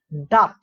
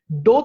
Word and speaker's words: doth: The city now ডাথ, এখানে কিন্তু খুব একটা ইম্পর্টেন্ট শব্দ রয়েছে, DOTH। এটাকে অনেকে প্রনাউন্স করে ডোথ হিসেবে, বাট এটা ডোথ না, দিস ইজ, এটাকে উচ্চারণ করতে হবে ডাথ।